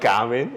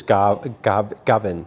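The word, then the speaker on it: Gawin: it married you're married no it's not garmin everyone pronounced it wrongly actually no no you spelt it wrong what do you think you can't you can't see he's a g-a-w-i-n he says it's gavin garwin gavin gavin oh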